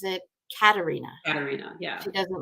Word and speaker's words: Katharina: And like technically the pronunciation in German is Katarina. And when I grew up, it was Katrina.